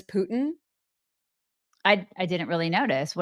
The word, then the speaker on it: Putin: It's Putin, you guys. Somebody pooted. It's like you say it like somebody pooted. Putin. Yeah, but there's still like a hint of a T when you're saying that.